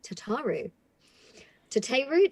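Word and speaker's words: Tataru Taru: reeves and i play tataru to te root depends how people pronounce it but i think is the most common this is the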